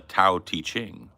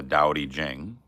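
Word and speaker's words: Tao Te Ching: pronunciation was and I I said Dow this Dow that right um and then I said taao I was like oh let me go read the book oh it's the TA teing okay well it's actually the dowy Jing just a pronunciation thing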